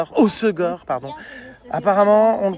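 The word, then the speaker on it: Hossegor: Osegor pardon. Apparemment on le prononce mal et les gens sont surx.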